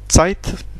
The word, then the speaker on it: Zeit: Comme le mot Zeit. Zeit, qui veut dire temps. Le temps. Die Zeit. Donc Zeit. Hein, comme Z. Z. C. Il y a ce son C qui vient avant.